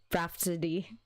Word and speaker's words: rhapsody: Okay, Rhapsody. Silent H. Rhapsody.